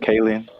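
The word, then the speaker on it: Kaling: Kayen.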